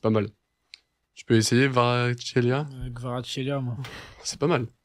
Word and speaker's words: Kvaratskhelia: C'est Kvaratskhelia, tu le prononces mieux que moi en tout cas, c'est pas mal. Tu peux essayer Kvaratskhelia?